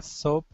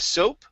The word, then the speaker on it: soup: Now this word, okay, with an OU there, that is pronounced soup. Instead of soap, okay, it is soup.